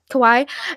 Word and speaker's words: Kawaii: the pronunciation of this, but Kawaii, Kwai, you know, those types of Oh yeah, videos. like Hawaii. Yeah. Yeah, Kawaii. And so I really actually,